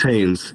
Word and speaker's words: Haynes: Hayes, just by the way it's spelled. It's Haynes, yeah.